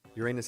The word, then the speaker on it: Uranus: The alternative pronunciation of the name, which goes Uranus. And most scientists in public roles do use this pronunciation.